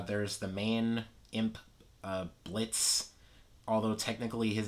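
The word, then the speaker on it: Blitzø: the main imp uh blitz although technically his name is blitzio but uh the o is silent as he likes to remind us uh there's moxie who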